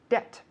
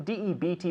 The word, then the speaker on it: debt: but be careful because the B here is silent ah that debt debt d e d e b t but the B is